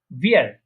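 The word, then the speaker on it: wir: তারপরে ভিয়ার, এটা কি উইয়ার না, এটা হচ্ছে ভিয়ার, ভিয়ার, ভিয়ার প্রনাউন্সিয়েশন করা ভিয়ার। হ্যাঁ, ওই যে নিচের ঠোঁটের সাথে মাঝখানে উপরে যে দাঁতগুলো আছে ওটা লাগিয়ে নিচের ঠোঁট একটু নিচের দিকে গোল করতে হবে, ভিয়ার।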